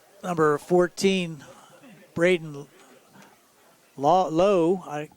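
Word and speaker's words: Laux: Looks like number 14, Braden Lowe, L-A-U-X. How do you pronounce that, Tony? I would say Low. Or Lau.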